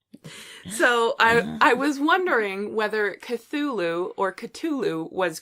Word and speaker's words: Cthulhu: you're all and it's really pronounced chlo-chlo so so anybody who pronounces like that though